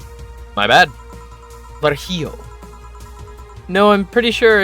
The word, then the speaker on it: Virgilio: It's pronounced Virgilio. My bad. Virgilio. No, I'm pretty sure it's Virgilio.